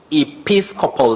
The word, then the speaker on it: Episcopal: us to remember is we have the stress on the second syllable that is Episcopal not Episcopal okay Episcopal or Episcopal